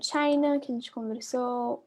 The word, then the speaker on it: China: Depois a gente tem o China, que a gente conversou. O i tá no final da sílaba, então ele fica com som de I, China.